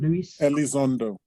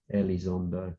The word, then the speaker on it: Elizondo: Is it, how do you pronounce his name? Luis Elizondo. Elizondo.